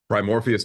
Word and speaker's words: Primoris: the founder of um primor um I'm sorry pronounce that for me Victor primoris Technologies there we go primoris Technologies y'all he